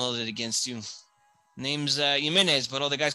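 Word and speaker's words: Jiménez: Sorry, for a lot of you gringos, that's Jimenez, but it's pronounced Jimenez.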